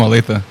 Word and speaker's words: Olathe: Kansas Kansas City where you from We're from OA OA yeah okay not o like some people